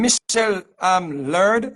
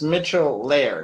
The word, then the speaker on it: Mitchell Laird: Is the name Michelle Laird, or how do you pronounce the last name? Sure. It's Mitchell Laird.